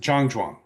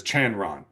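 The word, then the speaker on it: 站桩: In Mandarin, it is pronounced Zhangzhuang, but Wang Shujin Roshi, who was born in Tianjin, pronounced it as Chanron.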